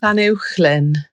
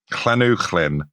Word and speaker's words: Llanuwchllyn: You contacted Jennifer Collier and got her to record how to pronounce the words, and then you repeated it, but in your voice. Llanuwchllyn. Exactly. Llanuwchllyn, Dolgalaw, Bala, and Penmawr Hollow.